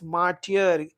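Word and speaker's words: martyr: मार्टियर pronunciation पे ध्यान दीजिए।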